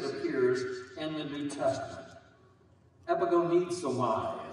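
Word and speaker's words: ἐπαγωνίζομαι: Epigonizomai is what they say it's pronounced as in Greek.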